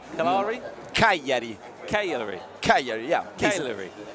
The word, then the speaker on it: Cagliari: If Roma, Napoli, Juventus, you'll have to help me with my pronunciation here of... Mina, Jari Mina. No. Let me go for it. Is it Cagliari? Cagliari?